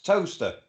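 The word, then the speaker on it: Towcester: It's toaster. Toaster, that's pronounced toaster. As in bread toaster.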